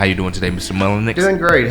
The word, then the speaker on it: Mullenix: I did pronounce that right. Mullenix, that's correct.